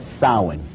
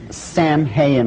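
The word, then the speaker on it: Samhain: in the occult World they call it sowing now when you look at the name it looks as if it's saying Sam hayen or something like that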